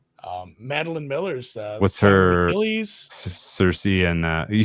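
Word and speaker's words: Circe: Cerse. Um, yeah. Um, Meline Miller's Cersei. And, uh, you say you call it Cerse. Cerse. You pronounced it Cerse.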